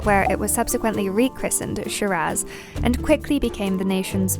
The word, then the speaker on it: Shiraz: Shiraz is the Australian name and can be pronounced in a few different ways, though generally Shiraz won't put you wrong.